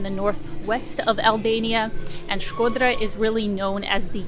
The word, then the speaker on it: Shkodra: We are in Shkodra, or as I will sometimes incorrectly say, Shkodër, because it's spelt with an E, and I can't say things differently than the way they're spelt.